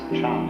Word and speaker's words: Chan: Jana and so this has been pronounced Chan in Chinese and then in Japanese